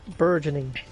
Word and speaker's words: burgeoning: Apparently, the word is pronounced burgeoning cuz I Googled it.